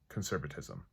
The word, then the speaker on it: conservatism: And because it's so many syllables in Spanish, I went and added a syllable in English too.